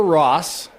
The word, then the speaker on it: Ross: You pronounce both S's in Ross. Oh. Yeah, there's not a silent S in Ross. It's R-O-S-S. You pronounce them both.